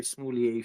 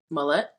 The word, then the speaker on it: Smollett: My heart goes out to the entire Smoulier family.